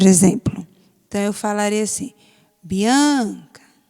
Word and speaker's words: Bianca: Então, eu falaria assim, Bianca, Bianca. Então, qual é a sílaba forte? Não é o an da palavra Bianca?